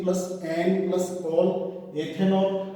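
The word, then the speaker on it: ethanol: 8 plus N plus all एथेनॉल, अंग्रेजी में उच्चारण होगा इथेनॉल।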